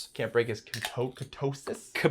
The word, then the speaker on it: ketosis: Can't break histo ketosis. Kattosis. Ktosis. It's actually pronunciate ketosis.